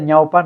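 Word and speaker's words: ñawpa: Y cuando se escribe ñaupa no lo hagan con U, háganlo con W, porque en quechua, lingüísticamente, la unión de vocales débiles y una fuerte y una débil hace el diptongo. Y eso en quechua suple la W, ñaupa, por eso se pronuncia y se escribe con W.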